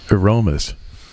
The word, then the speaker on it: ArOmis: I just got it from ArOmis. I think a closer pronunciation would be ArOmis.